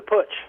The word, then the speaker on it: putsch: you say that word that's right but the push yes the push all right so is is